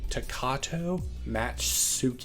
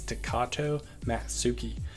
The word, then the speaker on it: Takato Matsuki: of the takuru matshita takato match suit okay sorry i'm not really good at pronouncing stuff but it's takato matsuki uh it's card effective